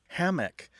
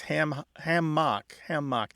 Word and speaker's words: hammock: Hammock versus hammock. Well, one thing I'm hearing right away is that there's a difference in stress. Hammock tends to have a stress on the first syllable, where hammock tends to